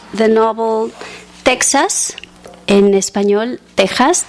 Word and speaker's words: Texas: novel Texas in espanol Tas though it has an X it's pronounced like Mexico Mexico with the X um that was translated